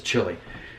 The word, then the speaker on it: Chile: right, Uruguay, Argentina, and Chile, which in America we pronounce as Chile.